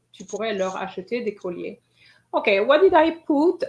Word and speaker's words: collier: Des couleurs? What's that? Necklaces? Sorry, I didn't get that. What's the word in English? Necklaces. Oh, necklaces. Okay. Necklaces is collier. I heard couleur. Okay, it's the pronunciation.